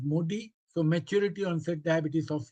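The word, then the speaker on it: MODY: MODI, that is actually the pronunciation is MODI.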